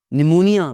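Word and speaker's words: pneumonia: निमोनिया बीमारी का नाम है जी, पी की आवाज़ नहीं आती।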